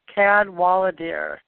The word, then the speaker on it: Cadwalladr: get into that so the way you say her name is Cadwallader there's too many consonants and not enough vowels so she found connections